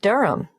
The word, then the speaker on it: Durham: at one urunga Street Durham how do you spell Durham d-u-r-h-a-m of course I should know that but it's just one of those names that sounds quite different from the way you spell it it is confusing I've